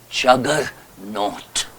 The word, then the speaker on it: Juggernaut: I saw jaganath but they could not pronounce it properly so therefore they wrote ju w g e r n a u t Jugger not and you know how